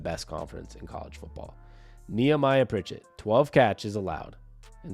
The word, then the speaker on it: Nehemiah: have three picks via Denver cornerback neamiah pritet Nehemiah should be the correct pronunciation because I went online to make sure